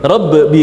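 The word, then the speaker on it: رب: tasdid itu kan harusnya rabbi, harusnya rabbi kan gitu ya, rabbi kan gitu, ada qalqalahnya, dan dia harusnya dia ngalir, suaranya itu harusnya ngalir tetapi tertahan semuanya.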